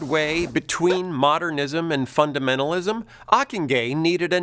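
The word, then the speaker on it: Ockenga: in either strand enter harold akingay rhymes with mockingjay achenge was a boston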